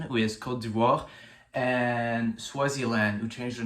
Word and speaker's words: Côte d'Ivoire: The best example for that is Ivory Coast, who changed their name to the French pronunciation, who is Côte d'Ivoire, and Swaziland, who changed their name to Eswatini.